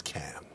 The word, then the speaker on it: Cannes: How is it officially pronounced? I've been told officially it's Cannes.